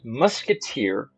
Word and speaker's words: MuIIIKeTeP: Winter's bracket round two match between mui KP pronounced musketeer and apricot the first map up today is